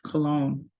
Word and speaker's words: cologne: Notice our pronunciation is close to the French, cologne.